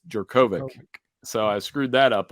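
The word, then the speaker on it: Jurkovec: or I pronounce Phil I've been calling him Djokovic but apparently it is jerkovic so I screwed that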